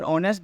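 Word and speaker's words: honest: लेकिन ऐसा नहीं है जब आप इसे उच्चारण करेंगे तो आपको ऐसा लगेगा कि वो वेल पहले आ रहा है मतलब कि ओ पहले आ रहा है जब भी आप उसको उच्चारण करेंगे मतलब ऑनेस्ट तो ऑनेस्ट में ऐसा उच्चारण होगा कि ओ पहले आएगा तो उच्चारण के हिसाब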